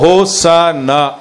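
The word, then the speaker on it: Hosanna: அப்போ பார்த்தீங்கன்னா மேலே பாருங்கள் ஹோசன்னா, அதோடய டிரான்ஸ்லேஷன் ஹோசன்னா, பொனிட்டிக்னா என்னென்னா எப்படி சவுண்டு எப்படி அதை ப்ரொனவுன்ஸ் பண்ணணுன்றது தான் பொனிட்டிக் சரிங்களா. அப்போ ஹோசன்னா அப்படின்னு சொல்லணும் சரிங்களா.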